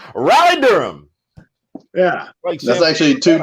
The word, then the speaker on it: Raleigh: i got journalists so are you saying like rallied durham isn't balanced what is the name of that city i don't know i said it wrong raleigh durham yeah that's actually two different cities much